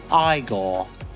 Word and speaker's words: Igor: redone nice Max and Igor cavalera have taken us on a metal time machine here and it is so sick now it's pronounced Igor their new releases are